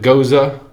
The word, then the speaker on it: Gose: goes and I know some people pronounce it goza some people pronounce it goes I pronounce it goes some of a lot